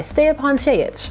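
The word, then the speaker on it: Stjepan Šejić: Everything pretty much in this comic, aside from lettering, is done by Stepan Chayich. That is the pronunciation he gave for his name over on Tumblr, and I am eternally grateful.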